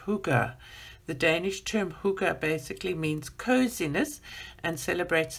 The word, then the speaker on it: hygge: higgy is hygge is the part that says pronounced hygge the danish term hookah basically means coziness and celebrates the thing that